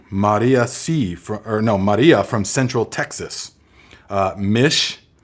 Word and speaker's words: Mish: Mish, rhymes with fish.